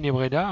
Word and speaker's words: Nebreda: Donc on utilisera la peinture, puisque là j'ai fait une série de tutos en coopération avec Didier Nebreda, hein, qui lui a modélisé une orange.